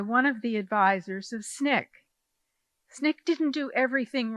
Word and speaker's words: SNCC: But how did I get into SNCC?